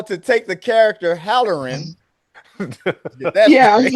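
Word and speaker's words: Hallorann: to yeah, what's his name's wife in the black spot, and Dick, was it Dick Haller? How do you say that? Dick Halloran, Yeah, yeah, played by my boy Chris Chalk.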